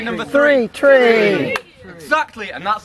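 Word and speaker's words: tri: Tre so how do they say number three Tre exactly and that's how you say it in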